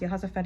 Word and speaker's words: Jehoshaphat: Jehoshaphat, pronounced Jehoshaphat in Hebrew.